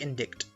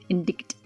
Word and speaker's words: indict: cannot let you in indict the witness that's how you say it right yeah that's right it looks like indict indict this ends the cross-examination